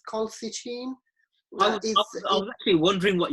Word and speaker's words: colchicine: I can never pronounce this. I think I missed the L there. It's colchicine.